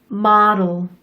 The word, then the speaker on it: model: 맨 마지막 단어 조금 이상하게 발음되었죠? 우리가 어릴 때 마루인형 하면서 가지고 놀던 거 혹시 기억하시나요? 그게 바로 이 model 인형이랍니다. 모음 사이에 D 또는 T가 올 때는 마치 R 소리를 내듯이 굴려주세요.